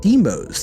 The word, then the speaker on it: Demos: I have chat telling me it's pronounced Demos.